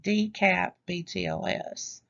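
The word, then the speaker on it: DCAP-BTLS: sorry for that um dash btls is pronounced d cap btls a misunderstanding and errors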